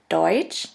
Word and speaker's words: deutsch: letter combination is t s which is simply pronounced like a ch in english here we have the example of the word deutsch deutsch which means german and of the word